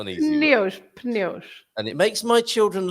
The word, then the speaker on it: pneus: It's like the French, isn't it? Pneu. And Portuguese, pneus.